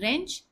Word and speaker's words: wrench: In wrench, W is silent.